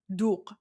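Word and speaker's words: دوغ: It's pronounced duke. I don't know. And then and then the last letter at the end is a letter that you actually can't pronounce in English cuz because there's no English version of of duk.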